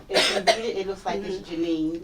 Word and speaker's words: Jeannine: so um about me my name is Janine but it's pronounced like the number nine and um I'm a